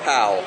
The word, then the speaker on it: Powell: Baltimore has a section called Boog's Barbecue, named after Boog Powell, first baseman in the 70s.